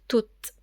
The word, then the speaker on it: tout: la prononciation du mot tout au masculin singulier T ou t se prononce tout au féminin singulier T